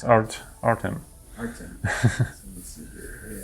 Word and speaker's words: Artem: How do you spell it? A-R-T-E-M. It's Artem.